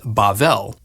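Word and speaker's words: בבל: Babylon in Hebrew is pronounced Bavl and is sometimes translated Babel.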